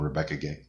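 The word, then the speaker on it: Rebecca Guay: to anson maddox mark tadine uh kaia folio rebecca gay like just incredible artists i did look that up by the way that's how you pronounce her name rebecca gay um it looks like gray but uh she's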